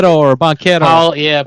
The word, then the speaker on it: Banchero: I can't pronounce his last name. That played for the Banchero Magic. or Banquero? Paulo Yes, Banchero.